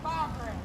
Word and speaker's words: Favre: Favre.